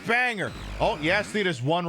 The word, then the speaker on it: Bangor: The G is silent. It's not Bangor, it's Banger.